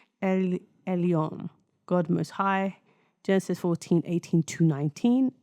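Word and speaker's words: Elyon: Elon, God most high.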